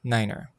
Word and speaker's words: niner: pronounced as tree and since n is no in German nine is pronounced as Niner these two rules do